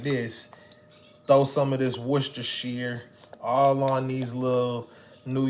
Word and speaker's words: Worcestershire: is worcestershire Worcestershire or is it warchester Shire hi Chester War worst war Chester warchester Worcestershire now but it's Worcestershire I dab this song